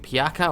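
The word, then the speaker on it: Pjaca: Now, left wing, we're going with Piaka or Pajaka. I'm pretty sure the J is silent, so I'm going with Piaka, but I could be wrong.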